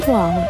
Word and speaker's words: wau: The word of wow is come from the shape of its wing, which resembles an Arabic letter, which pronounced wow.